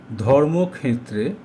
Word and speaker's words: ধর্মক্ষেত্রে: যেখানে ষিয় থাকবে সেখানে হলন্তক ও মুধ্যানস্য উচ্চারণ করতে হবে। তাই ধর্মক্ষেত্রে এটা হল ধর্মক্ষেত্রে।